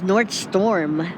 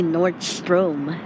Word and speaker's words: Nordstrom: enter through the Nordstrom I can't pronounce Nordstrom right for some reason I thought it was North storm but it's actually north stro I was not a